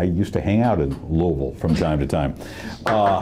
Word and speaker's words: Louisville: showed the video from that would be louisville not louisville forget the s okay it's louisville i hey i used to hang out in louisville from time to time